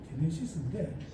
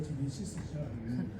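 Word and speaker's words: γένεσις: 기네세우스의 기본명이 게네시스인데 어제 뭐 좀 들어본 것 같잖아요. 자동차. 예, 현대자동차 이름에 제네시스가 있습니다. 이 제네시스를 영어식으로 발음한 것이 이게 제네시스죠.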